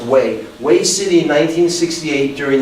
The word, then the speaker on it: Hue: We have Hue City, H-U-E is pronounced Hue, Hue City in 1968 during the Tet Offensive.